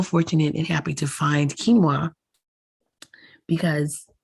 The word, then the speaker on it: quinoa: a little later so quinoa which is spelled q-u-i-n-o-a but pronounced k-e-e-n -w-a-h quinoa has so many